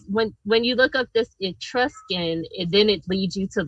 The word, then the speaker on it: Etruscan: right, I don't want to say it wrong, Etruscan. Etruscan. Etruscan. ETRI something or the other. It almost puts you in the mindset of trust. ETRUS. Yeah. CAN. Yep. Same thing. Yep. Etruscan.